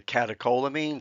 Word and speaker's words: catecholamines: includes what are called the catecholamines. That's how you pronounce that.